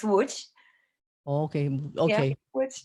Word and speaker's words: Łódź: If I'm pronouncing that Lodz, Poland. Yeah. So the proper pronunciation, which I know is crazy, is Łódź.